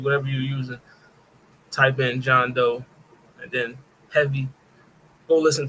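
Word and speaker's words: Jean Deaux: this fire I mean I think it's pronounced John down John Doe yeah you right yeah John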